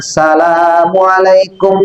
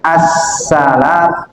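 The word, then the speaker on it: assalamu'alaikum: Bacanya tadi salamualaikum warahmatullah itu tidak. Jadi harus pakai assalam sinnya itu tasdid.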